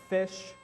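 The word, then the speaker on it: ghoti: uh you'll notice that the gh is foot like in laugh uh o is it like in i forgot what and ti is sure like in definition right this is fish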